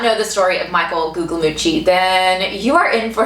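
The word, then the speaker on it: Guglielmucci: are talking about michael gugliucci yes that was his real last name and i know i'm saying it right because that's what was said in an interview with him but anyways if you do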